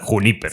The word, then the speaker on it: Junípero: sí, hay que pronunciarlo en español porque es una palabra. Junípero. Sí, Junípero.